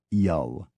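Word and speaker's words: Zuill: u tveen is Riven Z u i l l is yal m n z i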